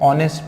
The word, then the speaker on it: honest: अब यहाँ पर जो H है वो क्या है? साइलेंट है। इसका जो प्रोनाउंसिएशन है वो हम लोग नहीं पढ़ते हैं, ये क्या है? साइलेंट है। तो ऑनेस्ट पढ़ते हैं उसको, हॉनेस्ट नहीं पढ़ते हैं।